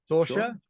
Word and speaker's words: Sorsha: Sorsha.